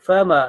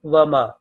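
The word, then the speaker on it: فما: So it is fa. Fa means so. Fatawalla anhum fama, not wama.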